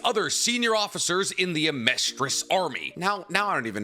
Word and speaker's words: Amestris: Just realize it's Amestris, not Amestria. I've been saying it wrong this entire time.